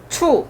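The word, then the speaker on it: 处: 그래서 곧처자인데 요것만 가지고 일본에서는 썼고 그걸 약간 변형시키는 것으로서 중국에서 썼는데 발음은 우리 발음은 처잖아요. 중국 발음 어떻게 된다고요? 추. 예, 우리 발음 뭐라고? 처. 중국 발음은 추.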